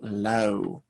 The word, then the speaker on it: low: confusions with law and low just make sure you get the good ore sound the very small mouth and the o distinct from each other moving on to another